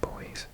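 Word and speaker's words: Boise: square miles 28 000 square kilometers 1.4 million Idaho oh boys boy I did look it up once I had to pronounce it boys 83 000 square miles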